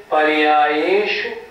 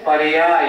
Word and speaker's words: पर्याय: द्रव पर्याय शु केवल ये गलत हो गया हमें जोर देना है पर्याय य प श प नहीं उच्चारण कैसे करेंगे सर्व द्रव्य पर्याय पर्याय छोटा है ना पर्याय केवल अर्थ